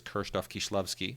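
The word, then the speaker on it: Krzysztof Kieślowski: she will of course pronounce his name as kof kishlovsky which is the way you're supposed to I have met Anette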